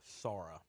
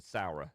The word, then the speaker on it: Saura: Sara. It is a Sara. I said Saura. Sara. So it's Sara.